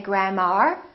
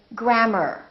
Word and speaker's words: grammar: in words like grammar don't say grandma say grammar or e AR for